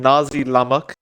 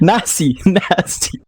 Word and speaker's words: nasi lemak: Nazi. 5 Nazi. seconds remaining. Nazi What did I say? Lemak, yes, Mike. Nazi. What did It's an S, Mike. It's not a Z.